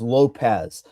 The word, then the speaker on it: Lopes: And I think if you like Diego Lopez um or Lopes, however you I still don't even know how you say his name. Well, I see. Come on, Mike. Come on, man. It is Lopez.